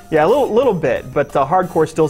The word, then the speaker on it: Hard Corps: for a game called Hardcore. Now, I know you can tell by my very subtle pronunciation that it's actually spelled C-O-R-P-S, not C-O-R-E, Hardcore.